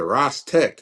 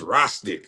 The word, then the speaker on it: Rostic: They was like, man, he said Rostec. It's Rostic. Like, why he say it like that?